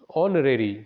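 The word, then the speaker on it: honorary: अब अगला है सी इज ऑनरेरी secretary of the club, तो ऑनरेरी जो है इसमें एच साइलेंट होता है, इसलिए यहाँ पे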